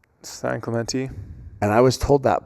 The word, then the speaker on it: San Clemente: And do you know how to pronounce the e in a Yeah. Yeah. So it' be San Clemente.